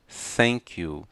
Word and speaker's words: thank you: Thank you. Não é com T, não é com S, não é com F, é com letra teta.